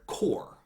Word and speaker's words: corps: Then there's also the word core, which is spelled C-O-R-P-S. The P and S are silent because it's French.